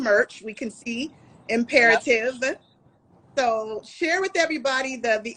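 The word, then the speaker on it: Im'Peretiv: definition of imperative?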